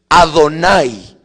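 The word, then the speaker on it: אדני: Señor, en hebreo se escribe así, Adonay.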